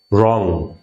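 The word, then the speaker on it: wrong: এই ওয়ার্ডটা হচ্ছে রং, ডব্লিউ এখানে কিন্তু সাইলেন্ট, রং।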